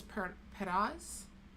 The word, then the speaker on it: Perez: They kind of roll their R, which I can't do. I can't really roll my R. Perez. Just pronounce it as Perez.